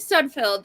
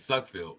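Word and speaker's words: Sudfeld: last night if Nate sunfield is the absolute floor I I don't see how you you're not pronouncing his last name right it's suck field go ahead okay but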